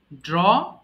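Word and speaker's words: drew: আচ্ছা, ড্র, আঁকা, ড্র, ড্রু, ড্রন। মাঝখানে এটা হবে ড্রু, এটা আমরা ড্রিউ বলে ফেলি ভুল করে, এটা হবে কি ড্রু।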